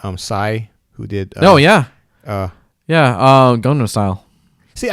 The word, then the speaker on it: Gangnam Style: Oh yeah, Gangnam Style. See, I always pronounce it wrong. I want to call it Gundam style, like Gundam Wing, but if only it would make it so much better.